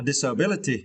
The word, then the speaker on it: disability: and fatherness wasn't a disability it is now right and for this course you need to stretch the third syllable B okay okay disability